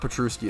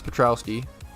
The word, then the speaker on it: Petrowski: I say Patrol Steve petrowski is the way to say it a lot of people always said a lot of people always said petrusky but it's not petrusky it's petrowski that's just how I